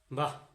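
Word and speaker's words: বাঃ: তাহলে বা, বা দিয়ে বিসর্গ যদি হয়, উচ্চারণ হইতেছে কি, এই বিসর্গটা উচ্চারণ হচ্ছে হ, বাহ।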